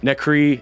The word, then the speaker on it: NXCRE: The band in question today is NXCRE and the Villains, or as I'm told it's pronounced, Necree and the Villains.